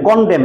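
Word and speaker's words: condemn: এন্ড, তাহলে CONDEM, কন্ডেম, এটার এন উচ্চারণ হবে না, কন্ডেম।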